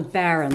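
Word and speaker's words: baren: And I have something here called a Baron. This is spelled B A R E N.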